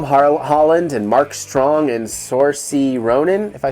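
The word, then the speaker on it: Saoirse: that you look at that combination of allergies and you're like i think you're cheating at scrabble because those don't make that sound oh only i gonna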